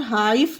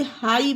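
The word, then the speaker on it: high: है नहीं है तो इसे आप फा का उच्चारण देकर हाइफ मत पढ़ लेना यह गलत हो जाएगा इसे हाई पढ़ेंगे मतलब ऊंचा डी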